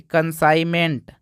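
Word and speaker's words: consignment: के बाद एन आ तो वहां भी जी साइलेंट रहेगा जैसे कि डिजाइन यहां देखिए लिखा है कि कंसाइनमेंट कंसाइनमेंट तो यहां भी क्या है दोस्तों यहां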